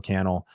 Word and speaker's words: Cannell: my name is canell rhymes with YouTube channel and shout out to